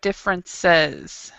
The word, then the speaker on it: differences: Okay, so in spite of there, remember differences. So Differences. So if there's an E there with an S, you actually do pronounce the E.